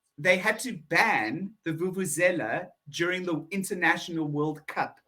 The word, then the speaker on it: vuvuzela: I remember vuvuzelas. There we go, exactly, a vuvuzela. Vuvuzelas. Now, we do pronounce that with a VU, so it's vuvu, vuvuzela. Vuvuzela.